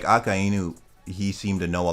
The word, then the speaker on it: Akainu: How do you pronounce his name again? Akainu? Akainu, yes.